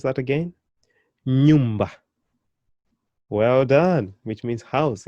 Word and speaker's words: nyumba: Nyumba. Can you pronounce that again? Nyumba.